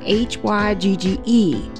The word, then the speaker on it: hygge: there that said hello something it was spelled h-y-g-g-e and i've never heard of that before so